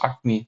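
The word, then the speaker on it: Acme: bu örnek yaratıldı e akme diye bir firma burada yaratıldı e akme küçükken çizgi filmlerde hep gördüğümüz Aslında İngilizcesinin doğru telaffuzu akmi belki Eee olarak adlandırılan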